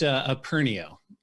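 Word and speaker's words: Aperneo: company's name correctly i feel like i maybe mispronounced it it's a pernio it's a clear of a camera that's how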